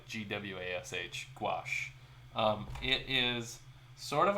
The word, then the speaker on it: gouache: gouache, which is usually just pronounced like Gwash, gouache.